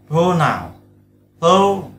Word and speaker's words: pronoun: Tiếp theo nó có đại từ nữa, pronoun, thêm sắc vào bởi vì là trọng âm nó rơi vào âm pro, pro nào là đại từ, đúng không?